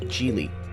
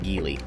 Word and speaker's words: Geely: one offered by chinese manufacturer gili yes it's pronounced jeely not gili jili has been making waves in the automotive